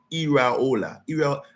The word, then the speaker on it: Iraola: I like to pronounce his name properly. It's Iraola. And I put a Spanish accent. Iaora. Yeah. I hope it sounds good.